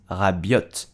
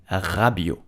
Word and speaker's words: Rabiot: the end of rabio is silence do not pronounce rabbit but adria rabio did you know that the mom of adrian